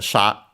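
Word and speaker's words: 者: uh actually a compound uh we had a sha which you have even studied in a previous series which is uh the Chinese pronunciation of the kanzi uh for person the one used uh more often than not as sha sometimes also as mono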